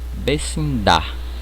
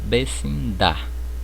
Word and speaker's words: vecindad: Então percebam aqui, eu trouxe 3 palavras: verdade, felicidade, vecindade, certo? Então vocês percebam que eu não pronuncio a letra D no final da palavra. Ela praticamente é muda, o som é mudo, tá bom?